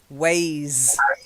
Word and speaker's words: ways: Okay, the S sound at the end. Sometimes it's a soft S, and sometimes it's a vibrating S. It's a Z sound. So, ways, yeah, it's more of a Z, ways.